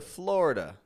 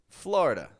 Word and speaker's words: Florida: is your trip to Florida notice I'm not saying Florida or florid but rather Florida older Generations will say it like Florida Florida and that's totally fine